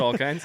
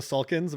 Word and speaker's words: Salkind: The Salkinds? I think it was called them the Salkins, but I was watching some things today and everyone's been calling them the Salkinds.